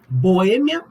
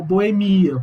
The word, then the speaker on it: boêmia: Boêmia ou boemia.